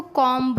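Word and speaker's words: comb: जैसे कॉम, बॉम्ब, थम, बम। कुछ लोग इसको कॉम्ब बोलते हैं, बॉम्ब वो गलत है।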